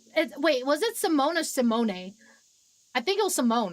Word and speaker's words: Simone: I know we haven't talked much, but I'm Simone. Yes, that's how you pronounce the name.